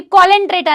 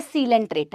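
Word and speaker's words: Coelenterata: यह कोलेंट्रेटा नहीं है। यह सीलेंट्रेटा है।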